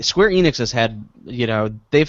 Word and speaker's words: Square Enix: Hardware devices Nintendo does isn't it Square Onyx Square not en Enix no Square Enix I thought that's how